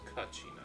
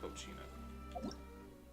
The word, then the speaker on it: Kachina: Yo, Kachina, time to do your thing. What did I call her, Kachina? It's Kachina, not Kochina.